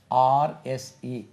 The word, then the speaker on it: horse: It rhymes with force, a force.